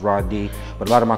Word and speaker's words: Radee: my Hebrew side is it's spelled different it's r a d e e but it's pronounced r d but a lot of